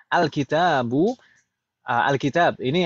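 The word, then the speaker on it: الكتاب: Alkitab. Ini alkitab bacanya alkitabi.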